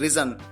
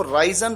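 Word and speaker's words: risen: यहां पर आपको ध्यान रखना है कि जो थर्ड फॉर्म है वो रिजन, उसको प्रोनाउंस किया जाता है रिजन। कई बार स्टूडेंट्स इसको राइजन प्रोनाउंस करते हैं, ये गलत है।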